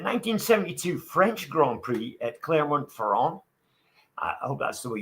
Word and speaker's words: Clermont-Ferrand: However, at the 1972 French Grand Prix at Clermont-Ferrand, I hope that's the way you pronounce it, Clermont-Ferrand.